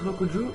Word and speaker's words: Rokuju: Moi je prononce Rokuju parce que le R est souvent soit roulé ou soit dit en L en japonais. Faut savoir que le L n'existe pas en japonais.